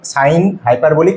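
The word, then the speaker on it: sinh: লিখে দিয়েছি সেটা হচ্ছে সাইন হাইপারবলিক এটা কিন্তু উচ্চারণটা এরকম হবে সাইন এইচ এক্স নট এইচ এক্স না সাইন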